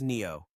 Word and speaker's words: NdFeB: More precisely, it's a sintered alloy of neodymium, iron and boron, which the industry writes as NdFeB, and everyone pronounces as Neo.